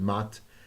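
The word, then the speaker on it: Ma'at: Above all, the order had to maintain the major pattern of Mayat. Again, I may be pronouncing that wrong. I've heard it called Mat, M-A'-A-T, Mat, defined as divine justice.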